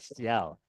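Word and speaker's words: CIL: We're working with British Workshop, located in Ciel, although it's spelled C-I-L. How does that make Ciel?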